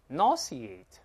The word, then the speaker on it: nauseate: 好，再读第二个， nauseate， nauseate。